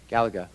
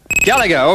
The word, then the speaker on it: Galaga: hand corner is that Galia or solar Fox Galaga Galaga okay fine you're right I mispronounced it you got it right is the